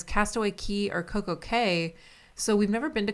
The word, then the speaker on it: Coco Cay: So Castaway Cay, C-A-Y is pronounced Key, but Coco Cay, C-A-Y is pronounced K, because they call it the perfect day at Coco Cay to like rhyme.